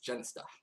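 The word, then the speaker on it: Jenista: People always say his name wrong. It's Genesta.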